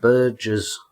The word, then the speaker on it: burghers: You pronounce it burgers, you idiots.